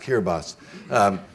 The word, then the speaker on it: Kiribati: was typing the name, his typewriter didn't have a T and an I, so he put an S instead. And so it's pronounced Kiribati.